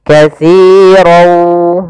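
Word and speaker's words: كَثِيرًا وَ: Maka cara membacanya masukkan tanwin kepada huruf waw, maka dia langsung berbunyi waw. Katsirau, ya, tapi dia menyisihkan ada sedikit. Nah, di sini untuk idgham bi gunnah itu juga kita namakan dengan idgham naqis. Ya, idgham bi gunnah naqis. Itu yang dia naqis, tidak secara utuh sempurna menghilang nunnya, tapi masih menyisihkan. Maka katsirau masuk sambil ke rongga hidung kita.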